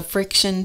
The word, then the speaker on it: FriXion: going to answer the question what is the friction pen this is what it looks like it's spelled f r iix i o n it's